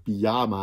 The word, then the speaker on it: pyjama: van anders in nederland kun je zeggen pyjama hij naar licht klemtoon niet op de eerste lettergreep en niet op de laatste lid gek op de middelste led geen palletjes een